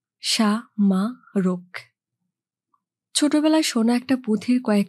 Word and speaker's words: সামারক: নাম আছে বসুন ভাই আমার নাম সামারক আমি প্রতিটি বর্ণ আলাদা করে উচ্চারণ করলাম সা মা রোগ ছোটবেলায় সোনা একটা পুথির